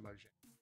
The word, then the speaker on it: Mojang: I pronounce it Mojang.